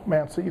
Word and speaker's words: mancy: massey as it's called from scapula for shoulder bone and mancy for rhymes with fancy um the uh this